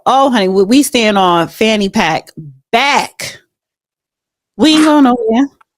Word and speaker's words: Fani: honey we staying on fanny pack back we ain't going no fonnie fonnie her name is pronounced fonnie right fonnie Fanny um Fanny